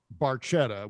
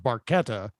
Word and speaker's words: Barchetta: we also we also know that uh getty mispronounces barchetta which is actually pronounced barqueta literally translated it means small boat essentially a